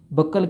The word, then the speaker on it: buccal: ಕೆಲವೊಂದು ಕಡೆ ಕೆನಡಾದಾಗ, ಅಮೇರಿಕಾದಾಗ ಬ್ಯೂಕಲ್ ಕ್ಯಾವಿಟಿ ಅಂತ ಪ್ರೊನೌನ್ಸ್ ಮಾಡ್ತಾರೆ. ಕೆಲವೊಂದು ಕಡೆ ಬಕ್ಕಲ್ ಕ್ಯಾವಿಟಿ ಅಂತಾರೆ. Both are correct.